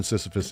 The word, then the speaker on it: Sisyphus: Actually, we must imagine Sisyphus is exactly the right way to say it.